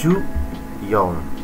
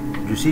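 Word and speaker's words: 十四: seperti itu ya terus 14 14 Ju Yong kalau misalnya pakai j bisa gak boleh tapi seringnya menggunakan juyong Jusi juga diucapkan boleh terus Ju go ya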